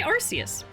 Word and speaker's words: Arceus: I say Arceus. I think Arceus is canon. It's canon. But I also feel like they made that canon so that it doesn't sound like you're saying arse.